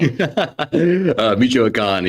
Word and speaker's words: Michoacán: You're going to have to pronounce that word for me. Michoacán, yeah.